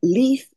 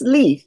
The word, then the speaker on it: Leif: happiness and achievements we learn from all of it I believe anyway today I'm joined by leaf and it is pronounced Leaf it's not Lea like